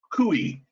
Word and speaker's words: CUI: controlled unclassified information cui which is pronounced kui and i learned that